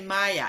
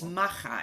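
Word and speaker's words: Maja: it do you know we would say maya it's maha in in in spanish it's it's famous uh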